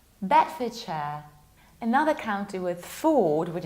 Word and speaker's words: Bedfordshire: It's not Bedford, because Ford is not pronounced like Ford. It's Bedfordshire, Bedfordshire.